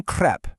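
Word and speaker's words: crêpe: You don't ask for a crepe with a closed mouth, right? You ask for une crepe with a nice wide open e sound.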